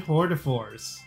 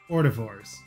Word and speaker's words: hors d'oeuvres: Three kinds of persimmon hortivores. Hors d'oeuvres.